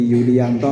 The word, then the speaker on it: Julijanto: Nama saya Julianto tertulis biasa manggil orang ejaan lama jadi Yulianto nggih ng nek ketemu teng